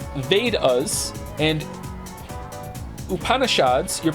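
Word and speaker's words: Vedas: thank you Emperor chinoo the vadas pronounced vas and upanishads your pronunciation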